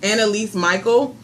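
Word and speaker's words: Anneliese Michel: The film was inspired by, I think it's pronounced Anneliese Michael, a 16-year-old German girl who in 1968 began displaying symptoms of demonic possession.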